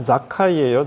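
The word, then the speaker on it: זכאי: 예수께서 열리로고로 들어가셨을 때에 거기 통과하시는데 사게오라 이름하는 자가 있으니 사게오르는 원래 이게 히브리식 발음으로 하면 자카이예요. 자카이.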